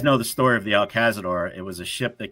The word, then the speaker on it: El Cazador: El Cazador, yeah.